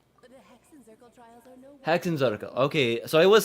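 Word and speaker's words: Hexenzirkel: The Hexen Circle trials are no Hexenzarkel. Okay, so I was saying it right. Hexenzarkel.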